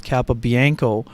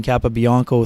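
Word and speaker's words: Capobianco: I'm pronouncing it is Kappa Bianco is because that's how he pronounced it during the intermission uh when he and Mason Appleton visited the NHL office so we've been using Kappa Bianco throughout the course of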